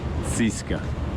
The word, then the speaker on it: CSKA: But if you say CSKA here, people have no idea what you're talking about. They pronounce it Ziska.